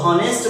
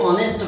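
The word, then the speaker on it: honest: ऑनेस्ट मैन, इसको ये actual में एच जो है वो साइलेंट होता है, तो इसको हॉनेस्ट मैन नहीं पढ़ के ऑनेस्ट मैन पढ़ते हैं।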